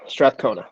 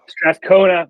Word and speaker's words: Strathcona: Strathcona. Strathcona.